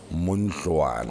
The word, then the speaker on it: Muntwana: Which is in Ndebele and pronounced Mundluana. Oh, Mundluana. So it's almost like a D sound. Oh, yes, but it's spelled with a TL.